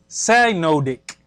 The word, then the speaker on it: synodic: Measuring the motion of the moon around the earth relative to the sun leads us to what is called the synodic, pronounced synodic period.